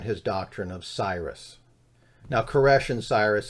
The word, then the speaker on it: Koresh: doctrine of Cyrus now koresh and Cyrus says the same thing caress is just a more Hebrew pronunciation of Cyrus so David Cyrus David koresh same thing now Cyrus